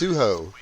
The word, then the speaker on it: Sujic: So Sujic, he shared with me how to pronounce his name. It's Suho. He said the Jik is silent.